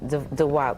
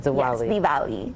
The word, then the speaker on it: Diwali: Am I saying I said Dwi? Dvali. Dvali. Dvali. Okay, I got it now. So, it's a W. It kind of has like a V kind of sound to it.